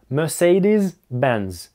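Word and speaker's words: Mercedes-Benz: В названии есть звук "з", MercedesBenz.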